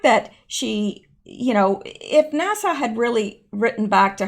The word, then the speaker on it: NASA: girl to NASA NASA somebody said it's not Nassau Nassau is in Barbados it's NASA I know that I